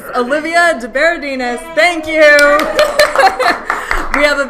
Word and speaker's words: De Berardinis: De De Berardinis. De Berardinis. Olivia De Berardinis.